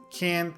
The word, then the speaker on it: can't: So the full phrase is can't complain, but the final T, can't, is usually not pronounced. So it's can't complain.